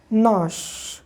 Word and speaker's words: gnash: GNASH हम लोग इसको पढ़ते हैं नाश, ठीक है।